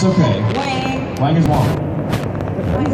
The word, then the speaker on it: Wang: It's Garrett Wang, by the way. It's okay. Wang. Wang is Wang.